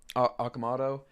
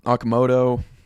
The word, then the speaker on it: Okamoto: So, I love the addition of uh Okamato. I'm gonna have to learn how to say the name right. Um Okamoto, that's probably more correct.